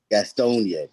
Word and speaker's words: Gastonia: Brandon Bellamy is the first Black baseball owner of the Gastonia, the Atlanta Gastonas. How you say it? Gastonia, brother.